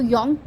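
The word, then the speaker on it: Jung: आपके योंग है इनको यह लिखा तो जे है बट इसको योंग यू नो प्रोनाउंस किया जाता है ये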